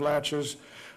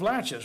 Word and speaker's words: laches: that term doctrine of laches it it's spelt laches la TCH yes just like a door latch and doctrine of